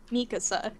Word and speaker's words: Mikasa: the thing is like if you're pronouncing her name as a Japanese speaker the way the syllable like like strength Falls it should be Mikasa but like if you're an English speaker it just flows better to say mik so